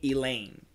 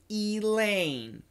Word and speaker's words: Elaine: you the word the the name Elaine okay so perfect pronunciation Elaine Elaine but in daily English most people would say Elaine Elaine Elaine Elaine with a swab so that's that schwa